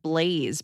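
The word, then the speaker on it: Blays: brutal comedic opinion start my son's name is pronounced Blaze but it's spelled b l a y s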